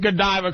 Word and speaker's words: Godiva: favorites because we have a mocha cappuccino it's pronounced Godiva correctly we got to move forward though guys